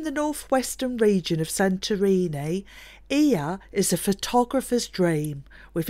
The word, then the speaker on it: Oia: Our first stop was the village of Oya, which is actually pronounced Ia.